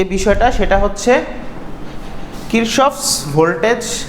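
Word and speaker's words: Kirchhoff: তো বাংলা ইংলিশে হচ্ছে কিরশফ হয়, এরপরে কারশফও বলে অনেকে। তো কিরশফটাই এখন চলে আসতেছে আর কি, আর কারশফও বলা যায়। আচ্ছা, বলা যায় মানে অনেকে বলে আর কি, কিন্তু এটার ভিত্তি নেই। তো কিরশফ উচ্চারণটাই হয়, প্রোনাউন্সিয়েশনটা।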